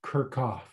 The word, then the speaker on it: Kirchhoff: kirchoff but it's pronounced kirkoff okay so the ch is pronounced like a k and the two f's are pronounced like a v okay so we're going